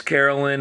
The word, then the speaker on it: Carolyn: heard of Carolyn ma it's Carolyn and then like Caroline like Sweet Caroline and then ma is